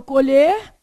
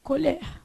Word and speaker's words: colher: Um tem o E fechado, né, que é o colher, E o outro tem o é o quê? Aberto, colher.